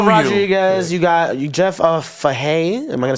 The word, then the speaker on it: Fahey: You got Jeff Fahey. Am I gonna say that Jeff wrong? Fahey. Oh, Fahey. Oh, That's excuse me. Fahey. It's spelled Fahe.